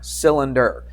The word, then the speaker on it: cylinder: You've seen that before, but it's not I-L. What is it? It's Y-L. That Y sounds like an I. Sil, and then the rest is easy. Inder, I-N-D-E-R. Cylinder.